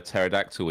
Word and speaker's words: pterodactyl: never know if a pterodactyl is using the toilet why do you oh you don't wait for me to ask okay no no no not interested in that it's cuz the p is silent P the p is